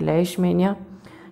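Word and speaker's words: Leishmania: इसके अंदर एक नया नेम है, हाँ, तो इसके अंदर एक नया नेम है जिसका प्रोनाउंसिएशन है लेishmania, ठीक है।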